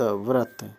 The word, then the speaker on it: व्रत: फिर व्रत कैसे होगा व्र और त व्रत यह ब नहीं होगा व्रत होगा निस निष्कपट